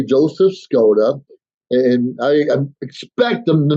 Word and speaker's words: Skoda: say your name wrong now my last name skoda it's about to say Scotta sakota we guess the code it's k-o-d-a it sounds exactly like it's spelled but more often than not it gets mispronounced so when someone asks me